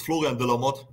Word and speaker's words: Florian De La Motte: It's Florian De La Motte. Is that pronounced right, bro? Hey, hello. Yeah, pretty much. It's Florian De La Motte.